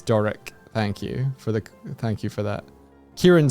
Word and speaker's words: Doric: I was saying Dorrit. It's Doric.